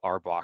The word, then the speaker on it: RBAC: rback permissions on or arbach someone told me it's called Arbok and not arback so anyway that's that's